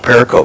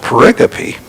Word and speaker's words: pericope: Orange yeah actually I always thought it was pronounced Perico but it's actually pronounced pericope so there there's another word you learned today